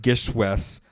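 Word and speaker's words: GISHWHES: Gishwes, pronounced Gishwes, now shortened to Gish, right?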